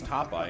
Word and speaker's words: Topeye: Because, well, it's Topeye and it rhymes with Popeye.